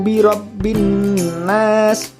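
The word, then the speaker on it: بِرَبِّ النَّاسِ: membacanya cool a'udzu birabbinnas tidak boleh kita membaca Qul a'udzu birabbinnas Yi Robby alannas nggak boleh ya karena itu Gem itu dimasukkan suara alif lam itu dimasukkan kepada huruf nun yang ditaksir itu seolah-olah huruf alif lam itu tidak ada secara kita baca Tapi secara tulisan tetap ada jadi jarak ya full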